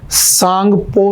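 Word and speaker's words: Tsangpo: तो T silent होता है तो हम इसे सांगपो रिवर भी कहते हैं।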